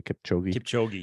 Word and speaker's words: Kipchoge: And even the men's winner, the all-star, how do you pronounce the name? I can never say it correctly. Kipchoge, yeah.